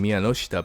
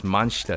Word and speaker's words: Miyanoshita: There's even points where they kind of start mispronouncing the characters' names, such as Satsuki's last name Miyanoshita being pronounced as Manshita in the dub for some reason.